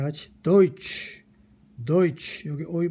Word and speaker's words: Deutsch: 다 같이 도이치 Deutsch, 여기 어의 발음이죠.